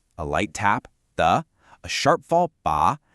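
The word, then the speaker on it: 他: Ta, pronounce ta. This is the first tone. I want you to think of it as high and flat, almost like you're holding a note when singing. Keep your voice at the top of your natural range.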